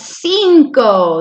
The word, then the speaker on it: cinco: 5 es cinco. That I makes the E sound.